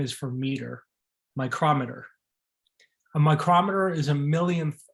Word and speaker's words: micrometer: This is pronounced micrometer, or I guess in some cases you can say micrometer, but the American way is micrometer.